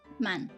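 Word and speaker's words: 万: right ten k but we have a different name for ten k ten thousand which is men so one man right but then ju man hundred thousand we say jew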